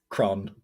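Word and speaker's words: crann: tree in irish uh very simple word it's kron kron yeah that's cool that is very cool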